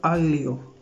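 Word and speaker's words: aglio: तो अगर हम इसको पढ़ें तो ये प्रोनाउंस करने में ऐसा होगा आलियो।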